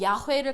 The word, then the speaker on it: 야훼: 모르니까 아도나의 모음 그리고 야훼를 갖다 합쳐서 여호와라고 합니다. 근데 이게 너무 잘못은 아니지만 제대로 그냥 그 네 글자를 읽으려 그러면은 그냥 야훼 그냥 간단하게 그렇게 도 나옵니다.